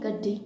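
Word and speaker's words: गद्दी: वो पालते हैं, उनको गड्डी कहते हैं। ठीक, आप इसको अपना प्रोनाउंसिएशन गाड़ी या गड़ी नहीं, गड्डी।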